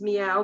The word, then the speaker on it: Miao: this and it's called mistress m-i-a-o which we pronounce is meow but m-i-a-o and this